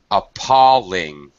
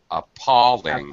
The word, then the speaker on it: appalling: could you repeat it appalling appalling apping middle syllable stress uh very negative very